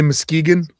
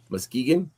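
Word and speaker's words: Muskegon: Um, can you say Moskegegan? No. Moskegan. Muskegan. Did I say it right? Yeah.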